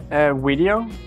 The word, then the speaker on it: Wedio: Wedio, and it's taken from creating videos where it's not just one video, it's us, it's we with a W, the community that together creates Wedio.